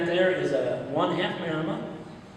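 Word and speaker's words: Maremma: That breed you're looking at there is a one half marma. M A R E M A is how you pronounce it or spell it. M A R E M M A one half Mara a quarter in atone shepherd and a quarter pyramid.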